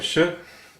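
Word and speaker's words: 是: the stroke order for sh which is pronounced like the first part of the word should is as follows we start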